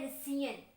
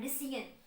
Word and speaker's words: rescission: अब इसी cancellation of contract की तो सिंपल टर्म में है ना, इसको कहा जाता है रिसीन। स्पेलिंग भी कुछ अनोखे सी है, RESCISSION, रिसीन।